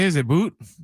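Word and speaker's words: Boutte: Is it Boot? It's Booty. I think it's booty. Might be booty. It's B O is pronounced booty.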